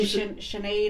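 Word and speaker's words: Sinéad: Sinead O'Connor. Is it Sinead or Sinead? Sinead. Sinead. No. Sinead. Sinead O'Connor.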